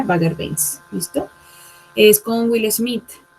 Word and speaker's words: Bagger Vance: Se pronuncia Bagger Vance.